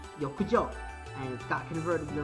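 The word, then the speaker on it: 浴場: In Japanese, bathhouse and lust are both pronounced yokujo, and it got converted the wrong way.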